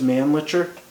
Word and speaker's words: Mannlicher: I guess the guy who designed it or styled it or something, it was his last name was Mannlicher. Licher, Yeah, not liquor.